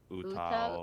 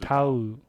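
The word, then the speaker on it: 歌う: Utao U? tame No, What? it's Google Trend. yeah, Utao? No. it's So just utau.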